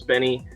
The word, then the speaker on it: Bny: How do you pronounce it? Do you say Benny? We did a poll in chat right before it started, and it seems the consensus was Benny.